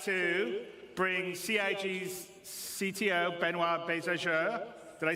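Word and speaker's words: Benoît: And without me waffling on, I'd like to bring CIG's CTO, Benoit Bézageur.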